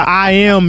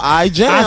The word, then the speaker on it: I Am: Shout out to I Am Music. Hey, I'm doing it all. Say it right now, I jam. I said jam. The J was silent. I am. Hey, but check me out though.